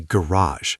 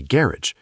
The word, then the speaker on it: garage: Americans say garage with the stress at the end and almost a French influenced sound. British people say garage with the stress at the front making it much more clipped and practical.